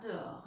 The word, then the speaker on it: dehors: Le son or, OR, y a un S qu'on n'entend pas, comme dans beaucoup de mots outils. D'accord? Le soleil brille déjà dehors.